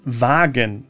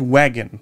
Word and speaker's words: Krankenwagen: The tricky part here is the W, the V, which is pronounced like the English V. The English mispronunciation here is Krankenwagen, for example. Krankenwagen. So it's Wagen, not wagon.